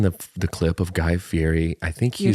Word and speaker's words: Fieri: the clip of guy fiery I think he you're saying it wrong no he's saying it wrong and I refuse I won't say F Yeti cuz there's not a tea in there baby it's like I'm